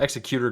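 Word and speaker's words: Xecuter: Yeah, that's how you pronounce it. Executor Group, which creates and sells devices that let users play illegal backups on their consoles, like the Switch or Nintendo 3DS.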